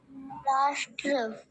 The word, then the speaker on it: राष्ट्र: हूं देखिए ष ष ष एक साथ ट के साथ मिला के बोलिए ट ष ठ श ड श ढ स नहीं कह रहा हूं हमारी जीव बिल्कुल ऊपर जाकर लगेगी सबसे ऊपर अच्छा वंश है कक्षा